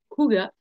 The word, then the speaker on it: Ouga: Ou le parfum d'ambiance Ouga, oui, il se prononce bien Ouga.